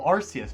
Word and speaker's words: Arceus: Oh, Arceus, but pronounced correctly.